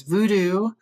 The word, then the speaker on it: vodu: New Orleans voodoo and there's vodu vod vod is what the actual pronunciation is. If you are from uh West Africa, it's called Bodu and then it came to you know through slavery through states side then it became voodoo and then Louisiana has